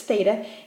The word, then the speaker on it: theta: angle or Greek letter that we use its theta and it is the angle measurement in radians